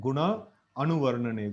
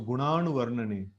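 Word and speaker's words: guṇānuvarṇane: So here also we see that a big a is there. So we should be like very careful with the pronunciation. So guna, so na, this is whenever this n is dot is there below, we have to bend the tongue, right?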